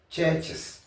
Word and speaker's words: churches: ch il faut pas dire chch Church non churches merci bien ici il y a un mot brush chch c'est église hein église Mango c'est Mang ais